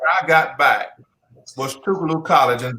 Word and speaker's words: Tougaloo: i got back was tougaloo college and like i do like the way you pronounce my college because some folks call it tug-o-loop thank you uh wrote